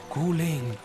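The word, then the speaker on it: 鼓岭: the heart of guling guling is the Mandarin pronunciation in our local dialect is called Kang Kang is my hometown it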